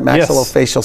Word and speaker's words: maxillofacial: Maxillofacial surgeon.